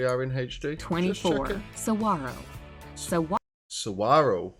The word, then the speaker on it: Saguaro: Saguaro Saguaro with a silent Gina if I look to this I'd definitely say sagawaro arrow is home to